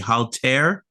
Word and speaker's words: Haltere: Our guest is Anthony Tabor and several gentlemen from the, hope I pronounce it right, the Haltere Group.